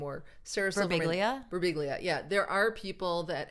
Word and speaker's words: Birbiglia: I guess what I'm saying is like Pete Birbiglia, is that how you say his name? Or Sarah Silverman. Birbiglia.